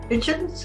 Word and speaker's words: Hitchens: with the be collection and we're interviewing kitchens how do you how do i say that